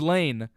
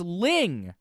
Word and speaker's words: Lyng: I'm like, no, I've talked to other people that have gone there, and they all pronounce it James Ling, because it's Lyng, not Lane.